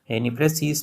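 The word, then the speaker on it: précis: आज का टॉपिक जो है पार्ट 2 है, जो कल यानी प्रेसीज पे हुआ था, यानी जो प्रे और सी की सूरत में पढ़ा जाता है।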